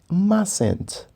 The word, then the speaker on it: mustn't: Então, isso fica mustn't. Mustn't. Como podem ver, na pronúncia, este T aqui é neutro, ok? Nós não falamos mustn't, não, falamos mustn't, ok? Então, é como se este T não estivesse aqui.